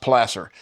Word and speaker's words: placer: Placer is pronounced plaster and and and you're panning gold that's in a pure form and you'll find it washes out of the gravels and everything.